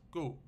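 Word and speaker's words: 告: I know this character also has the pronunciation of gao in Mandarin, but in classical Chinese, here it's pronounced gu.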